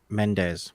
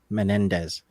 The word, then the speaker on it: Menendez: that's you should you should see me trying to pronounce menes which is how I pronounced it instead of Menendez oh yeah well yeah